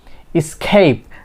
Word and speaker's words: escape: রস্যই sound produce করে সো এখানে কি হবে escape নট escape অনেকে আমরা কি এক্স উচ্চারণ করি escape এখানে কি এক্স